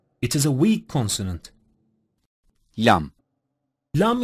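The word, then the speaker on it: لام: is a weak consonant lamb-lamb is pronounced by touching the roots of the upper central teeth with the tip of the tongue LEM is a weak consonant mim-mim is pronounced by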